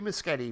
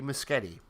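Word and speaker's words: Muschietti: i mean this is andy andy misgetty which we now know how to pronounce his name andy muschetti is the movie's fourth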